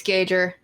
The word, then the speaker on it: Gauger: It's Gauger. Son of a bitch. For fucking years, I've been a fool saying It's fine. Gauger. Yeah. One that gauges.